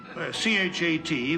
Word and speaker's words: chat: Well, C-H-A-T, pronounced cha, means, Oh, I know what that means.